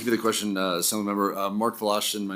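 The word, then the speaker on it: Wlaschin: Mark Volashin, my name is spelled M-A-R-K, last name W-L-A-S-C-H-I-N.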